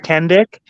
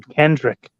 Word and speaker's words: Kendrick: boss talk and with kendik Kendrick Kenda Kenda Kenda kendik he can't say his name Kendrick Kendrick we've disagreed I've even